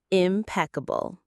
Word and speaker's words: impeccable: The word is impeccable. Let's sound it out together. Impeccable. Four clean crisp parts. Impeccabable. The stress is on that second syllable.